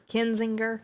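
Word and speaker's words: Kinzinger: about expelling adam and tell me if i'm pronouncing this right anyway cause kazinder is am i saying that right ken kenzinger yeah and also liz cheney from the house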